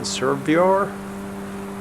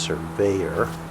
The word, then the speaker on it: Survyor: Servior. He said it's actually pronounced surveyor.